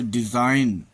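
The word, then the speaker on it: design: जी silent, N के पहले आया हुआ जी प्रायः साइलेंट होता है, जैसे डिजाइन, रचना, रिजाइन, त्यागपत्र, नेट, पिस्सू, साइन, चिन्ह।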